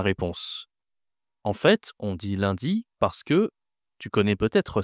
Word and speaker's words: lundi: Le premier jour de la semaine, c'est lundi. Lundi. D'accord. Alors, attention à la prononciation ici. Un n, ça se dit 1. C'est une nasale.